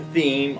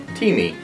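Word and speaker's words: Thieme: is pronounced teeth me like in a cup of tea and well me t me so this question answer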